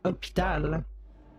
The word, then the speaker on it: hôpital: It starts with an H, but you don't say the H, you say hôpital.